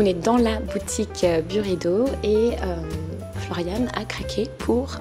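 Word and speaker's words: Byredo: En fait, ça se prononce Buredo, mais on peut l'appeler By Redo.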